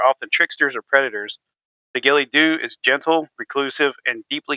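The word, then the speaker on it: Gille Dubh: During Dur, God damn it, in Gerlock, the Gilly Doo, pronounced Gillyoo, is one of the more haunting and gentle figures of Highland folklore.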